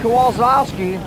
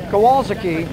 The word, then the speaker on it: Kowalski: Double zero M, a Tomek Kowalski, I butchered that one. Kowalski, I should say, starting fourth.